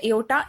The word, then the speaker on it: aorta: मैंने आपको कहा था एओर्टा इज द मेजर artery. एओर्टा is spelled as AORTA, are silent होता है इसमें, तो ठीक है, आप इसको एओर्टा प्रोनाउंस करते हो.